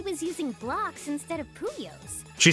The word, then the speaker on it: Puyo: Still able to battle even though he was using blocks instead of puyos. She says puyos and I I I keep thinking it's my brain pronounced it as pouyo. It's puyo. That sounds wrong.